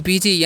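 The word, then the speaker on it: busy: यहां पर आई एम बिजी यानी कि इसे बुसी नहीं पढ़िए यहां पर एस वा का चरण ज होता है तो क्या हो गया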